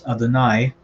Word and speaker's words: Adonai: that the lord yahweh so remember we pronounce this adanai so uh when we're